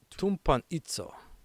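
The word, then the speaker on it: τυμπανίζω: It's pronounced tumpanitzo, meaning to beat, to stretch on an instrument of punishment, to execute through prolonged suffering.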